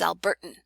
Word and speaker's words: Alberta: So we see a difference between using flap and glottal stop in Alberta versus Albertan. Alberta, with that nice almost D sounding flap at the end, Alberta, as opposed to